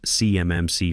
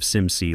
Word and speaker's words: CMMC: compliance stack, I notice she mispronounces CMMC framework. She says it CMMC, spelling it out letter by letter like she's reading from cue cards, instead of SimC like anyone who's actually worked with federal compliance would say.